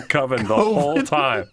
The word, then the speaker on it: Coven: over and over again i think it's pronounced coven that sounds like oven sounds like everything that's so that's the whole movie so good they're just mispronouncing coven the whole time it's